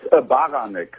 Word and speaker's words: Baranek: It's Baranek. It's a Polish name.